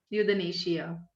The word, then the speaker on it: euthanasia: मुझसे पूछा था किसी ने यूथनेशिया। Not understand. स्पेलिंग बता देती हूँ, दैट इज EUTHANASIA, यूथनेशिया। जैसे एंथुजियाज्म बनता है ना, वैसे यूथनेशिया EU से बनता है।